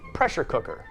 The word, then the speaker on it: pressure cooker: one two three four pressure cooker in the first syllable i usually stress the first word more because it's like a set phrase in my american brain like hot dog blue jeans ice cream pressure cooker put